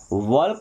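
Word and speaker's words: walk: के आया के के इन सभी जगह पर भी एल हमारा साइलेंट रहेगा। क्या पढ़ेंगे? टाक नहीं टॉक। टॉक व्क नहीं वॉक।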